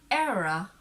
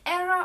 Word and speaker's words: era: next is the word era you see era or era both is okay so filipinos we are